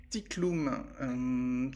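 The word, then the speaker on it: Tyk'lum: Donc le Tiklum. Alors juste, je te dis comment ça s'écrit, mais ça s'écrit pas forcément comme ça se prononce.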